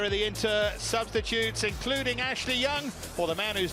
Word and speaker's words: Ashley Young: the inter substitutes including Ashley young for the man who's just been announced in the stadium as Ashley younger that's a new way of life for him a new way of pronunciation Tonio Conte his only